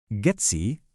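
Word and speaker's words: GEDSI: Getsy, ingat ya, dibacanya gets bukan dieja per huruf.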